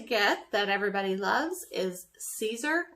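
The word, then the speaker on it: Siser: that everybody loves is Caesar it's spelled si fer but it's pronounced Caesar like Caesar salad and everybody loves the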